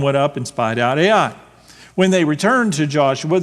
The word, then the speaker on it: Ai: which, by the way, I pronounced Ai. I don't know, how do you pronounce it? Do y'all pronounce it differently? Yeah, it's either I or Ai, so I just spell it out, Ai, which is near Beth